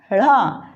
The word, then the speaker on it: ढ़: इसमें जीभ को तालु की ओर मोड़कर बोला जाता है। इनका उच्चारण जीभ को तालु की ओर ऊपर मोड़कर फिर बोला जाता है, जैसे ड़ा, ढ़।